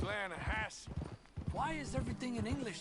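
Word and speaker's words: Lannahechee: trout you mean the lahash river no no no no no no the the lahash it runs right near here yeah but it's pronounced lass why is everything in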